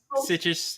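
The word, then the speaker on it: Sitges: also shown at the sit sites is that how you say it something like that it's sites yeah okay earning a nomination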